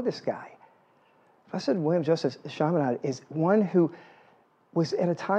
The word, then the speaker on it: Chaminade: Oh, yeah, Chaminade, right there.